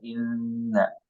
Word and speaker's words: إنا: Bisa di bawah itu di legenda itu ada keterangan bahwa ini adalah gunnah dan ditahan 2 sampai 3 harokat. Inna. Jadi kita bacanya inna ya.